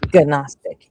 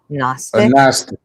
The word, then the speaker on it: gnostic: So it's not gnostic. It's gnostic. You only pronounce the G if you have the A in front of it.